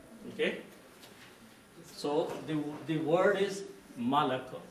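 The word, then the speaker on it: مَلَك: So the word is Malak. The only difference is there is a fatha and a kasra between these two words.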